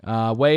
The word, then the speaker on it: Ouai: guys, Way. No way. Yes, Way. It's an incredible company. Way is pronounced Way. It is spelled Ouai.